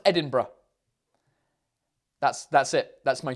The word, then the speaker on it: Edinburgh: to pronounce edinburgh idambour in english right it's pronounced edinburgh that's that's it that's my tutor thanks very